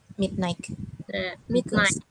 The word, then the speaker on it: midnight: We go to bed at midnight. Midnight ya, cara bacanya jadi G-nya silent.